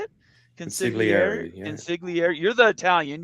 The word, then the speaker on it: Consigliere: Consigliere.